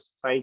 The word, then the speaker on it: psi: It is written as psi, it is pronounced as psi.